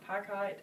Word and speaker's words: picot: and this is called Brick, and how do you say, is it Pico or Picot?